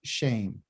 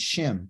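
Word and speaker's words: shem: is what they call shame which a lot of people think this means shim but it's shame okay you would think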